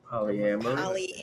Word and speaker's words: polyamory: It's the one that deals with multiple relationships, though you are not married, and it is pronounced Polyamory.